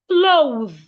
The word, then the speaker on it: clothe: Remember, your tongue must be outside and ensure you can feel vibration. Them.